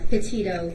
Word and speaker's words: Petito: Can you pronounce her last name for us? Sure, it's Petito, P-E-T-I-T-O.